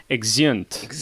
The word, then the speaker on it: Exeunt: Late Night Drive, it's exeunt. Yes. There we go. It's like excellent, but anyway.